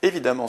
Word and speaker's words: évidemment: Évidemment se prononce amant, donc on a une terminaison en deux M.